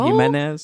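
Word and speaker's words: Ximénez: Is that how you say it? Jimenez. That was good.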